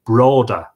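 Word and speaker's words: Brauda: The way it's spelled here is C-A-R-R-I-C-K and separate word broda, B-R-A-U-D-A, B-R-A-U-D-A, broda.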